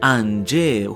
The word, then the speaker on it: Ange: Saul first mentions her earlier in the chapter but she's then fully introduced as "Ange" (pronounced as "an-jeh", who is a librarian at the Owl Library and assistant to Saul.